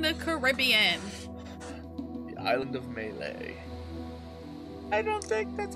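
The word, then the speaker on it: Mêlée: The island of Malay.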